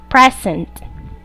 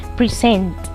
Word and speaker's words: present: the following words and notice that all of them are nouns and all of them are pronounced making the stress and the first syllable progress present object record when these nouns are converted into verbs their strength changes to their second syllables progress present object record